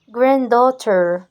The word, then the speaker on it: granddaughter: grandchildren grand children grandchildren grandchildr grandchildr et puis les petits filles sont granddaughter granddaughter grand grand ne prononce pas se dit granddaughter granddaughter le grand-père grandfather,